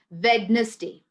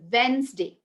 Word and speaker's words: Wednesday: many people saying this wednesday wednesday it's it's completely wrong d is silent in wednesday it's wednesday okay d goes silent